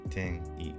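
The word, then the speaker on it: 転移: You basically do a hard stop on the and then you just continue with the next syllable with a vowel, like ten-i, ten-i, ten-i, ten-i, ten-i jiken, ten-i jiken. Tenii jiken.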